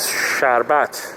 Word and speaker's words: sharbat: in the world with the real pronunciation is sharbat because I just saw